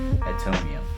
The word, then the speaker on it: Atomium: We're probably gonna end it with the Atomium.